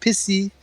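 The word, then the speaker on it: Pussy: the american way p-u-s-s-y it's pronounced pissy in french that's from what i've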